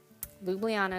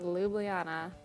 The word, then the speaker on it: Ljubljana: Ljubljana is how you say it. No one knows how to say it, but Ljubljana. I made sure.